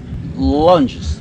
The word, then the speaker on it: lunges: Lunges, ¿no? Lunges. Oh, bravo. Lunges. Se escribe con G, se pronuncia con O y con Y.